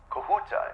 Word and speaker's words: Kahuta: ready it's going to the kahuta plants okay kahuta is that the correct pronunciation am I saying that right yes okay